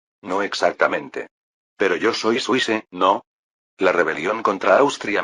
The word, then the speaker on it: Suisse: No, exactamente, pero yo soy suis, ¿no? La rebelión contra Austria marcó el comienzo de la Confederación Suiza. Suisse es la pronunciación francesa de Suiza.